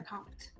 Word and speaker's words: LeCompte: And how do you pronounce your last name? LeCompte.